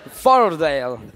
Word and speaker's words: Fort Lauderdale: ¿Fort Lauderdale? Yo dije. No, usted. Fort en. Ese sí pronunció. Ese sí pronunció bien. Fordale. Se pronuncia rápido, ya pronunció bien.